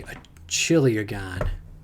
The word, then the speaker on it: chiliagon: A chiliagon. Oh, that's how you pronounce it.